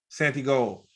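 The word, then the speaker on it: Santigold: gold or is it Santa what's the correct pronunciation Santi gold um I was having an issue connecting with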